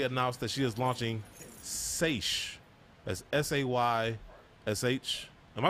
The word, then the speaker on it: Saysh: Allyson recently announced that she is launching Saysh. That's S-A-Y-S-H. Am I saying it right? Saysh? I think it's Saysh. Or Sachet, maybe. Saysh, like insatiable?